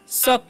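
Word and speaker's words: suck: आगे लिखा हुआ है एस यू सी के तो इसे सुक नहीं पढ़ना है क्या पढ़ना है शक पढ़ना है क्या पढ़ना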